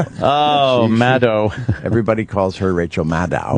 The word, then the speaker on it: Maddow: Her name rachael madow That's how she pronounces it, Mado.